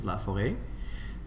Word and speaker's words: Laforet: Now, why do you have a silent T in your name? It actually comes from the French pronunciation of Laforet, and it's actually a little Chinese character, an accent circonflexe, as we say, on the E, because it's an abbreviation for La Forest.